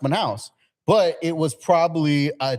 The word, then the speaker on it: Manaus: city in Brazil, Manaus, but he said like Manu, and I was like, how do you not know it's pronounced Manaus?